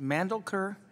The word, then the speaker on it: Mandelker: Is it Mandelker? How do you say it? Perfect, yes.